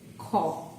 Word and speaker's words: ক্ষ: If it appears in the beginning, then it will be pronounced as kha. So just like the other kha.